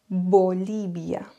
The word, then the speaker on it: Bolivia: trop accentué vocabulio et un autre mot ce serait Bolivia bolibia en effet on peut